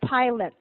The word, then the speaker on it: pilot: pilot Tyler oh yeah add the T sound at the end pilot oh good now let's make it plural because that's your sentence pilots pilots okay I'm happy that's